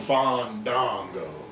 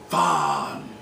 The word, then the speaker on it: Fandango: Fandango. Fandango.